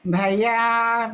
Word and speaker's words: Bhaya: Yeah, we chant Etena Satchavajena Bhaya Bhaya Bhaya. So Bhaya Upasamentu Te. We still don't drag the Bhaya. It's Bhaya Bhaya.